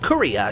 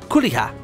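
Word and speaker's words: Kureha: So we've been invited to the game Gungale Online GGO by our friend Kuria. She's spelled K-U-R-E-H-A. I think it's technically pronounced Kuriha, or something like that.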